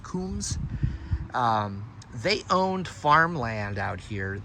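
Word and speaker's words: Coombs: The Kums family, C-O-O-M-B-S, or Combs, but I think it's pronounced Kums.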